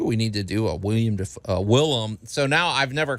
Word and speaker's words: Willem: No, it's not. It's Willem. Oh, okay.